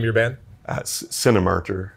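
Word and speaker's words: Cinemartyr: band uh Cinemark or it's like Cinema and marker like someone who dies for their religion put together Cinemark or how do you spell it c-i-n-e-m-a-r-t-y-r my Irish accent comes out when I say it marcher martyr yeah I gotta say like an American Cinemark Cinemas Carter yeah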